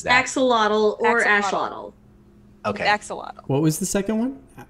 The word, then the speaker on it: axolotl: How do you pronounce what Richmond is? Like axolotl.